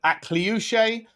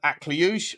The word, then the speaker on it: Akliouche: If you weren't sure, because I've heard Akliouche, I've heard Akliouche, I've heard Agilouche. Loosh, push pineapple, shake the tree.